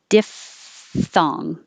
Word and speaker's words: diphthong: And 30 is really a F sound, that PH together like phone. So diphthong. It is hard to go from the F to the TH, like fifth.